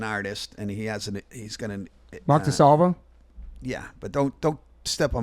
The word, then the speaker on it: DeSalvo: And I go, "Yeah, his name's DeSalvo, and I pronounce it DeSalvio."